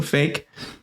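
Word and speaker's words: Faik: I think that's I I looked up how to pronounce the name I'm pre fi f a i k or Q in place of the K so fake in charge of a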